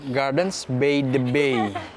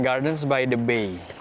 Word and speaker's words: Gardens by the Bay: Dulu mama pronounce this Gardens Bay the Bay bukan Gardens by the Bay.